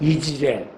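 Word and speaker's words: Jezreel: 근데 이스라엘 평야가요 원래 발음이 이즈레일이거든요. 엘은 하나님의 뜻이죠. 엘리야 그러면 야훼가 하나님이시다 그런 뜻인데요. 지레가 뭐냐면 자라하고 엘하고 합쳐져서 이즈레일 평야가 됐는데 이게 뭐냐?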